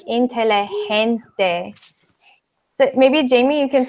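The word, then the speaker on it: inteligente: hear you guys I it has like an H sound like intelli hens day but maybe Jamie you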